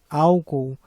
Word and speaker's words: álcool: vamos ter mais cuidado com essa palavra aqui álcool porque ela pode ser confundida com uma paroxítona na verdade ela é uma proparoxitona porque ela possui três sílabas e a sílaba tônica é a primeira au temos outros exemplos